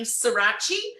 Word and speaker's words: Surace: Surace. It rhymes with Versace, if it's a bit easier to pronounce that way.